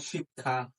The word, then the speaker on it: শিক্ষা: থাকলে খ ষয় ক্ষতি শব্দের মাঝে বা শেষে থাকলে ক খ যেমন শিক্ষা দুর্ভিক্ষ আচ্ছা আমরা একটা